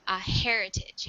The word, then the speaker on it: heritage: And with this word, we really pronounce that H at the beginning. Heritage, heritage.